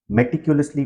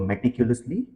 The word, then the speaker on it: meticulously: is something that uses an adverb meticulously planned meticulously planned focus on the pronunciation of the adverb meticulously the stress is on L the sound before